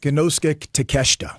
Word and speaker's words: Konosuke Takeshita: Konosuke Takeshita.